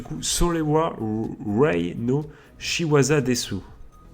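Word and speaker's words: です: On enchaîne les amis avec du coup Solewa Rei no Shiwaza Desu. Des, parce qu'on ne prononce pas le U se fait aspirer du coup.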